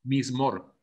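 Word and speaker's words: מזמור: Cuando tradujeron el hebreo al griego, ahí donde está la palabra que Amán sabe pronunciarla, en hebreo, ¿cómo se pronuncia? Mismor. ¿Cómo? Mismor.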